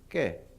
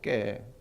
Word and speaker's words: 깨: 요런 깨가 얼마나 합니까 꽤 꽤 가 아니고 께 경상도 분들은 믿게 발음이 안 돼요 뭐라 그래요 꽤 깨